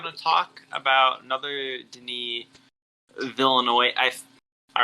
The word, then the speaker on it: Villeneuve: We are looking at how to pronounce with the typical French-Canadian or French pronunciation, Denis Villeneuve. Villeneuve. All right. Villeneuve.